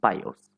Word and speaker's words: BIOS: It stands for Basic Input Output System and is pronounced as BIOS.